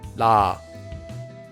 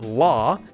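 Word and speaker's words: 라: the sound would become la la and one more time La notice that it's not law and it's definitely not raw since it's pronounced using a different tongue position you can hear how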